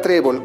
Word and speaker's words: trébol: Tenemos la palabra trébol. ¿Cuántas sílabas tiene la palabra trébol? Trébol. Tenemos 2 sílabas. ¿Dónde se encuentra la mayor fuerza de voz? En la penúltima sílaba.